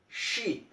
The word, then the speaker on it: she: The first one was she, that means an sh sound, she.